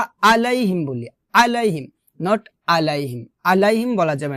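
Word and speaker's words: عَلَيْهِمْ: কিনারা উপরে মারিদাতের গোড়ার সঙ্গে লাগবে এভাবে এভাবে উচ্চারণ করতে হবে না কিন্তু হবে এভাবে আলাইহিম ন আলাইহিম কি হবে আলাইহি কারণ এটা হচ্ছে আইনটা আগেই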